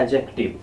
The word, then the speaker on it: adjective: उसी तरह अगर एडजेक्टिव की बात करें, यहाँ क्या लिखा हुआ है, ADJECTIVE लिखा हुआ है, तो इसमें भी डी साइलेंट रहती है, इसे पढ़ा जाता है एडजेक्टिव।